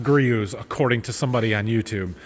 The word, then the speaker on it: Griot's: It's pronounced Griot's according to somebody on YouTube. Griot's Garage. Grooves? Something like that. Apparently you don't say the T.